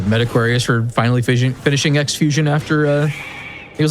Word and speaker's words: Xfusion: just came out called uh Xfusion or I guess it's pronounced Crossf Fusion and I have thoughts on it.